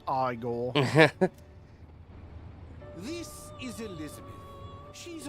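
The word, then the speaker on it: Igor: to make your acquaintance it's pronounced aore this is Elizabeth she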